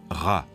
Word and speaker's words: Ra: soleil et Champolion sccopte il se prononce RA en bas une lettre